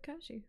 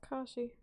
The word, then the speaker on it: Kashi: spell my did you just say my name wrong I said Ki no what how dare you you've been pronouncing my name right this entire time and the one time you say it it's wrong it's Kashi it triggers me so